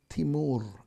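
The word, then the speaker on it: Timur: which was directed by timer against Christians or some people would pronounce timer as T moon okay according to tradition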